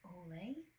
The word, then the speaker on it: Olay: The next brand we have is Olay.